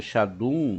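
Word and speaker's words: שדים: É pronunciado Shadum, mas é escrito Sheidim, demônios.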